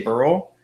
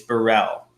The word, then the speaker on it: Burrell: I used to say Burrell, and now he sounded it out for me. It's Burrell.